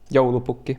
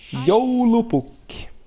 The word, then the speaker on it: Joulupukki: Joulupukki. And that's how you pronounce it, by the way. Probably pretty weird for a lot of people. Joulupukki.